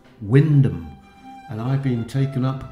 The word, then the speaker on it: Wymondham: the lovely Church of why mundham dedicated to St Peter in lestershire there's another church in norfor with the exactly the same spelling name but they pronounce that Windom and I've been taken